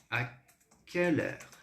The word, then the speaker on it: quelle heure: Lembre-se, o Q, ou seja, o Q, no francês, ele tem som de K, tá?